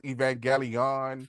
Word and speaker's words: Evangelion: There's a there's card game, Neo Genesis, Evangelion. films, and Is one with big television. robots. I'm still mad that that's a hard G. Evangelion is how it should be pronounced. That's what it looks like.